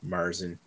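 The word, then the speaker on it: Märzen: The technical pronunciation for Marzen is actually Marzen. It's because it's named after the month of March.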